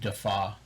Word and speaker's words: Defauw: And last name is Defauw, pronounced Defaw.